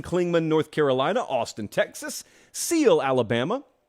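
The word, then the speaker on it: Seale: They're watching us in Clingman, North Carolina, Austin, Texas, Seal, Alabama, silent E on the end of Seal, not to be confused with Sealy, Texas.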